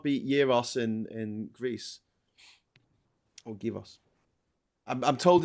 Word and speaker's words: gyros: Or gyros. I'm told it's pronounced gyros. It's gyros. Gyros. Gyro. Yeah. No, you don't pronounce the G. Like apparently. A hero.